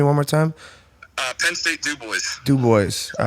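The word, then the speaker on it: DuBois: Can you pronounce it for me one more time? Penn State Du Bois.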